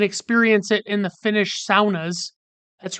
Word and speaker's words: sauna: You can experience it in the Finnish saunas. That's right, the Finnish pronounce it sauna, and so do Yoopers.